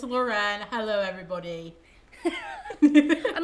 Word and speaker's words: Lauren: yet another special guest loren so sorry i didn't know if i was supposed to say my name or not yes it's lauren hello everybody i'm like